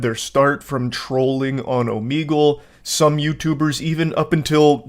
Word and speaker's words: Omegle: back in high school I was calling it omegal and only today am I realizing that it's actually pronounced Omegle so I learned the proper pronunciation just in